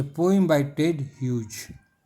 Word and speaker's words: Hughes: ह्यूज spelling देखिए HUGHES, ह्यूज, pronunciation ह्यूज है।